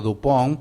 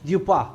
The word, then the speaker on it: Dupin: Con el personaje que yo llamo el personaje de Poe, que es el investigador, yo lo llamo Dupont, pero me acabo de enterar que no es así. No, es Dupin.